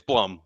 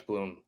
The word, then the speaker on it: Blum: No, it's Blum, like plum, but with a B.